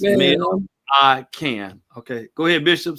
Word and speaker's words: Millican: And that is, and I always pronounce his name correct, unlike some people, Bishop L Millican. Yeah, it's Millican.